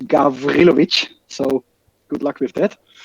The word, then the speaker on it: Gawrilowicz: try without previous training it's pronounced gavrilovic so good luck with